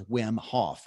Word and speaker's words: Wim Hof: That's another person people can check out of interest if you want to dig further, is Wim Hof, which is spelled W-I-M.